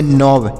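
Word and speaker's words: knob: बहु तो इसे पढ़ेंगे नोब के एन ओ बी नोब पढ़ेंगे नोब मतलब होता है घुंडी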